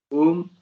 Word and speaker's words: Om: The A is pronounced as U, as in the word cup or up. The U is pronounced as O, as in book or look. The M is pronounced as in him or summer.